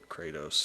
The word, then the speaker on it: Kratos: do you pronounce this you pronounce the a real strong rituals kratos kratos kratos great not there's no why in the middle of his name what the kratos it's not crazy what i've been saying